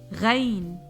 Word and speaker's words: غين: Similar to the GH sound in Gandhi, but not exactly. From the upper throat emerged this letter, like this. غا غا. If you know French, it's the R sound in the verb regarder.